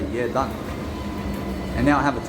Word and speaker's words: Jedan: Or else when you see J-E-D-A-N, I can just look at that and I can understand how to say it. I say Yedan.